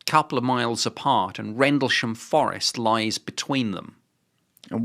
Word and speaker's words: Rendlesham: By Rendlesham How do you pronounce it? Rendlesham. Rendlesham.